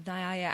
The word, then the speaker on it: Nyaya: one of the 6 systems of Indian philosophy, Nyaya, answers this question. Can you please tell us about the ancient Rishis or sages and this philosophy of Nyaya? Am I pronouncing that correct?